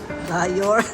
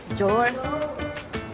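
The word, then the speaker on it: Dior: Dayor. Dayor daw, Dayor. Lalo ka lang hindi papasukin. Lalo ka lang hindi pinapasok. Mali yung pronunciation mo. Jor.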